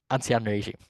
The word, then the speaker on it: ancien régime: It was called, I'm not even going to try and pronounce it. Katya, maybe you can help me with your French. Ancien régime. Ancien régime.